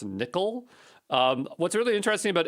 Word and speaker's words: NCCL: Let's take a look here at Nvidia Collective Communication Library, NCCL, also pronounced nickel.